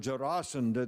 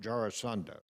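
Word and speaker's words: Jarasandha: actually he was allowed jasanda then to um by the way it's jasan not jarasand by I'm not sure how you learned how to pronounce it but there he was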